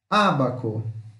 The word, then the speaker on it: ábaco: Ábaco. Ábaco. Pode ver que o acento está na primeira sílaba.